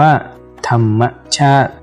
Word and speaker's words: ธรรมชาติ: ที่ มี ตัว สะกด ให้ อ่าน ออก เสียง อ่ะ กับ ตัว สะกด นั้น เช่น คำ ว่า ธรรมชาติ อ่าน ว่า ธรรมชาติ ข้อ ที่ 3 เมื่อ